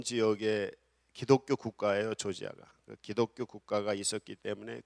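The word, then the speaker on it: Georgia: 있는 지역이 있는데, 거기가 조지아, 옛날에는 이제 러시아 말로는 그루지아라고, 요새는 이제 영어 발음으로 해서 조지아라고 하는데, 거기 나라에 모여서 선교 대회를 했습니다.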